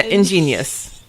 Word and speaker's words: ingenious: lore was just so ingenious. Bloopers! Can I say that word? Ingenious? Oh, so it's genius, ingenious. Ingenious. Yeah, ingenious. Yeah, ingenious. In 3 syllables, ingenious. Ingenious.